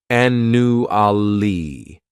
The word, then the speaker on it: annually: This word has 4 syllables, and the stress is on that first syllable. The second syllable, it's like you're just saying that letter U, and the third syllable has that schwa, annually. Annually.